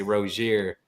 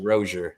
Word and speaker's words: Rozier: they used to say Rozier. Mm-hmm. He told me, he's like, yeah, I just kind of let it be, but. Announcers used to say it like that, but his name's actually Rozier.